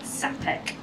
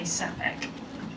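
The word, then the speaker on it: Čapek: Czech artist YF uh sapek I hope I'm pronouncing that correctly it's a CA with like a little um kind of flat U over it like a little you know extra thing so I'm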